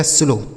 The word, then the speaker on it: slow: जैसे ACLOW, तो यह CL से हो जाता आधा सौ और ल, इस OW का उच्चारण क्या होगा? ओ की मात्रा। इसे पढ़ा जाएगा स्लो।